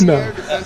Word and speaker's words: echidna: That's right, neither can they, apparently, because it's Echidna. It's not how it's spelled, guys. Echidna. But good try, good try.